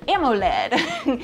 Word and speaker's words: AMOLED: It's a 480 by 800 capacitive AMOLED touchscreen, which I think I'm gonna begin pronouncing as AMOLED.